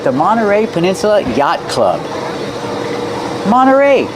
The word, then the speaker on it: Monterey: Monteray. You have nt. You don't hear the T when it's between vowels. Monteray. You can say Mterrey, but you'll usually hear Monteray.